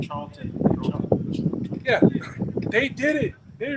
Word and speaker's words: Charlton Heston: Charles Heston. Charlton.